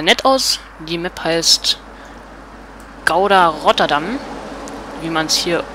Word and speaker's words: Gouda: Also viele sagen das mal falsch. Das heißt eigentlich Gouda. Ich war schon mal in Holland, deswegen weiß ich das. Das G wird immer H ausgesprochen.